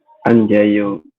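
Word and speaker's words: 앉아요: tapi teman-teman nanti bacanya berubah menjadi gimana menjadi anjayo anjayo seperti ini ya an yo kemudian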